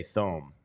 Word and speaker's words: Thome: It's like Tom Brenneman. I'm never not going to say Thome. That's not Tom.